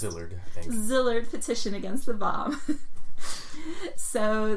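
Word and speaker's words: Szilard: similarly Leslie gross delayed the slizzard that is not how it's pronounced zillard petition against the bomb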